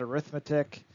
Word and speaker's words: arithmetic: Now, yes, maybe you're thinking, did he just say arithmetic and not arithmetic? It can be pronounced either way. I like arithmetic when it comes to this unit just because I feel like it flows off the tongue better, arithmetic sequences as opposed to arithmetic sequences.